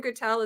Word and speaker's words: Gutel: Is your last name Gutel? Is that how you pronounce it?